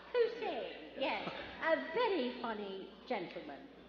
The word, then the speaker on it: Posehn: Posehn, yes, a very funny gentleman.